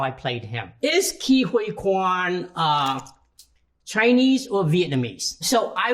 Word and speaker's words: Ke Huy Quan: My name is pronounced Ke Huy Quan. Ke Huy Quan.